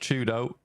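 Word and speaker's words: Fyodo: Uh, for Twisted Minds, if you weren't aware, uh, for Y do is pronounced Chudo. So, if you hear me talk about Chudo, it's that guy.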